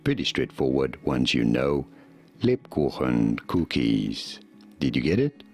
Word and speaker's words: Lebkuchen: And try and pronounce it the way that Charlie pronounces it, even though I don't pronounce it this way, which is, Charlie says Lieberkuchen.